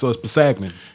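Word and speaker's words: Kpassagnon: I think it's Pasagnan. Pasagnan? And the K is silent, so it's Pasagnan.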